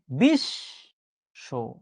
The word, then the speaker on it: বিশ্ব: বিশ্ব শব্দ আমরা লিখছি একভাবে, কিন্তু আমরা কিন্তু উচ্চারণ করছি আরেকভাবে। বিশ্ব, বিশ্বাস, বিদ্যান।